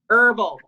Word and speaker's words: herbal: Funny because you pronounce the H. Yeah. Herbal tea. I can't pronounce the letter T. Like you don't pronounce H, and I don't pronounce the letter T, and I drink it.